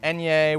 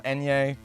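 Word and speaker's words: ñ: and uh you know little enya with the n my p a little enya i believe that's how you pronounce that spanish character uh we got a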